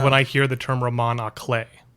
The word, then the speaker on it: roman à clef: Like Here's what I think of when I hear the term roman à clef. Which is how it's pronounced, by the way.